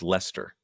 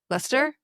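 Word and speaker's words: Leicester: I think it's pronounced Lester. Lester. And I only know this people UK listeners let us know. Lester.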